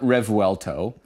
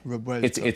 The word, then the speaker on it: Revuelto: It's yeah, so it's not Revuelto. And it's not Rebuelto with a hard B. It's a Rebuelto.